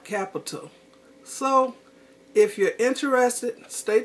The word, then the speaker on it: Qapital: ok I'm back ok capital and it's spelt with a cute QAPI tal and it's an online savings